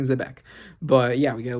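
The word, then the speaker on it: Xebec: I mean, that's that's how you pronounce it in Japanese technically, Zbec. But I'll cons I'll continue saying Zbec.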